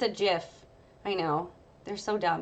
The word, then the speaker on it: GIF: because it's a gif or Jif it's a jiff I know they're so dumb because choosy dubs choose jiff that's how it's pronounced anyway yeah when you actually load it